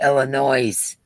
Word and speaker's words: Illinois: Diana D said Illinois.